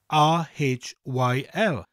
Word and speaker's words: Rhyl: But rather than being two separate letters, the RH constitutes one letter in the Welsh alphabet and has a sound all of its own.